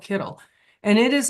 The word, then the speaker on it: Kittl: could come in, and I think it's called Cleddy, and I could be pronouncing it wrong, or Kittle. It's called Kittle, and it is like